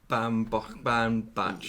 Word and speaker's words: Baumbach: Baumbach.